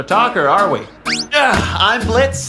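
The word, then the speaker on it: Blitzø: are we yeah I'm Blitz the O is Silent not sure we're gonna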